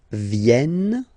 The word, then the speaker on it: viennent: Ils viennent, so remember this classic ending ENT for the third person of the plural is here, but phonetically it doesn't exist, so you don't pronounce it.